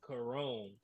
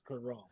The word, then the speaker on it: Corone: Jeffrey said the correct way to say it is Corone. Corone? Mm-hmm. He hit me with the phonetics. Yes. He hit me with the phonetics. The correct way to say it is Corone. Corone. Okay. So, Jeffrey, your last name is kind of like the Kelly Moore's offense. It's kind of like Kelly Moore's offense. It's spelled one way, but it's going a totally different way.